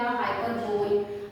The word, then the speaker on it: hyperbole: इसका अगर प्रोनाउंसिएशन आप जैसा वर्ड है वैसे करेंगे तो हो जाएगा हाइपरबोल, लेकिन इसका प्रोनाउंसिएशन है हाइपरबोली.